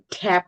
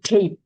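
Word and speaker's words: tape: টি এই, এটা হচ্ছে ট্যাপ উচ্চারণ হচ্ছে, কিন্তু যখন লাস্টে ই আছে সেখানে উচ্চারণ হচ্ছে টেপ।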